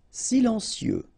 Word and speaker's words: Silencieux: Silencieux. Final X not pronounced, okay? This part here will be pronounced like cieux, okay?